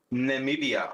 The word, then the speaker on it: Namibia: says watching Tyson all the way from uh name beer Namibia is that how you pronounce it so there you go it is who someone pronounce it for me Namibia Namibia that's probably 100 right so there you